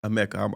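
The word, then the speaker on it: Emeka: Amecha. I always say Ama or some but Amecha.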